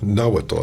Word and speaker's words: Nahuatl: I'm not saying it Nahuatl. I'm putting the accent in the wrong.